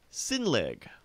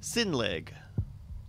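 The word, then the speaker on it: Sinnlig: points for this round Justin tell me about sin league say it again sin league spell it s i n n l IG sin league there's three to one in your favor you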